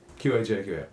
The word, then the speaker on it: qajaq: Yeah, but it's spelled the same way with the Q and J's. Qajaq.